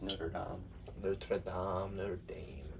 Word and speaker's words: Notre Dame: The correct French pronunciation of Notre Dame is not Notre Dame because they don't just fucking say R's. It's like Not. it's like it would be Notre.